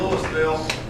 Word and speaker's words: Louisville: just like Louisville Kentucky we pronounce the S if you believe that I don't know why we do that that's what we do we say the s and Louisville but it's a wonderful